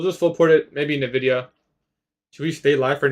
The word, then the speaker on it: Nvidia: It's pronounced Nvidia, not Nvidia.